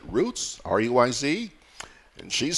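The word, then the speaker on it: Ruiz: And Nolita Roots, I think that's the way to pronounce it, Roots, R-U-I-Z.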